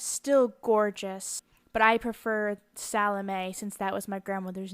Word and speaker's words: Salome: Now, my grandmother pronounced it Salome, but I believe that in traditional Polish, it would be Salomia, and spelled that way on the bottom, ending in M-E-A, instead of the above, M-A-E, which Salomia is